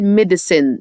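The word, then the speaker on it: medicine: ريست دواء يعني مديسن اوعى تنسى ان حرف السي ده هننطقه هنا اس لان جه وراه اي يبقى هقول ميديسن دواء ميديسن ميديسن دي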